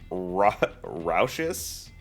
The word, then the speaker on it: raucous: So it is raucous. Oh, it's like ruckus.